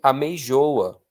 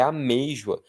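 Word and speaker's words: amêijoa: E essa outra aí, se não tivesse acento, você leria a meijoa. Ameijoa, tipo, abençoa, a meijoa. Mas não é meijo a pronúncia, é a meijua.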